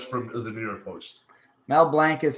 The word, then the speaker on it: Mel Blanc: Mel Blanc is how it's pronounced, is what he's saying.